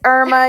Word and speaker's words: Irma: my name, I'm like, it's Irma. You know, like the hurricane and they laugh. We have a seamstress in Brook Haven, Mississippi that her name is Irma.